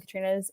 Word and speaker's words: Katrine: this time to say it is pronounced Katrina so just pretend there's an a at the end there I feel like a